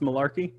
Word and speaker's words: Malarkey: His name is pronounced Malarkey? Yes, it is.